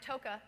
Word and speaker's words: Toke: Hi, I'm Toke, rhymes with Mocha, just to put a finer point on it.